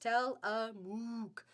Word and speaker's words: Tillamook: Virginia says it's pronounced Tillamook. Okay. Tillamook.